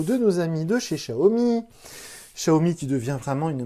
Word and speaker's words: Xiaomi: Maintenant, ça y est, les vendeurs partout chez Wick, chez SFR, chez Orange, ils ont compris que ça se prononce Xiaomi et non pas Xiaomi.